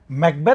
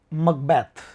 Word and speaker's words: Macbeth: बात करें तो इसको स्कॉटिश लैंग्वेज में तो इसका जो प्रोनाउंसिएशन है वो है मकबैथ, मकबैथ। लेकिन वैसे आप इंग्लिश में इसको बोलना चाहें तो आप इसको मैकबेथ कह सकते हैं।